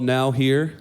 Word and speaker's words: Now Here: But the event was called Now Here. It's kind of spelled like nowhere.